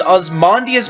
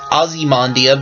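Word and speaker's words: Ozymandias: spear number four is osmandias might or it could be pronounced ozzy mandia but i'm pretty sure it's osmandia anyway it has a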